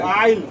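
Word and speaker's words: isle: অ্যান্ড দি আইল, আইল মানে কি? ভূখণ্ড, অর্থাৎ নিজের এই রাজত্বটা। আইল মানে কি? ভূখণ্ড। এটা ISL, এটা কিন্তু আইসেল বলবি না, কেউ কি বলবি এটাকে? আইল, এস এর উচ্চারণ নাই, ISL কি হবে?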